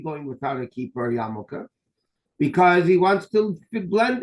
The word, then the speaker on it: yarmulke: So when you pronounce the word quickly, it's yarmulke, but it's really Yorei Malka, the fear of heaven, And again, ideally, a person should be wearing a yarmulke.